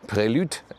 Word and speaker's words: Prelude: This is the Honda Prelude, as it is in the correct French pronunciation.